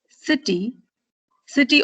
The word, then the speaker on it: city: City, city also has two syllables, but you stress on the first syllable.